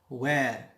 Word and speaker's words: where: Where. Notice here H is silent.